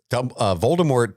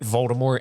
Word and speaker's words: Voldemort: I suppose there's more emphasis on the E. Nobody says it right. It's French.